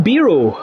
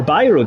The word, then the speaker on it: Biro: Laszlo Biro, or Biro, depending on how you pronounce it, was the inventor of the ballpoint pen.